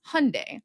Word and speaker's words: Hyundai: brand of car where the tagline was Hyundai, like Sunday. Well, actually, they were patronizing you because it's actually the Korean Hyundai, which means modernity.